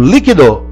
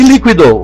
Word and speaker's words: líquido: A mesma coisa ocorre com líquido, que pode ser falado líquido e líquido. O dicionário vai avisar que as duas pronúncias são possíveis.